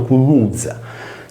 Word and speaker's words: κνυξα: Nel greco antico compare il lemma cunuzza, pronunciato cunuzza, che vuol dire pulicaria, pianta dal cui unguento si produceva una sostanza che secondo la tradizione cacciava via le pulci.